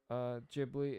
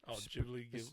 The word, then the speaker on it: Ghibli: Yeah, I've seen I don't have anything against like Studio Ghibli. It's just Ghibli. My bad. Oh no, it's fine. I've heard it pronounced both ways.